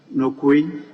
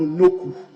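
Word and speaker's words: Nokoe: Right Honorable Speaker, just like Kujo became Kojo, it was supposed to be N-O-K-U traditionally, but the spelling has differentiated a little to K-O-E, but the pronunciation is N-O-K-U, Noku.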